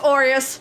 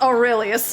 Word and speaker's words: Aureus: his name last time his aureus not aurelius aureus uh it says he's